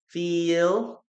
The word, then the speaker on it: feel: Pronunciation of feel and feel. Okay, as I told you, this is a long vowel, feel, short vowel, feel.